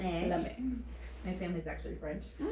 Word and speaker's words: lame: so a bread lame it's a French term l m e with little um sounds lame MX lame in French it's lame lame my family's actually French